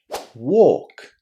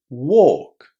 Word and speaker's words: walk: The problem here is that lots of students forget that the letter L here is silent. We don't pronounce it at all. Listen. Walk. Walk.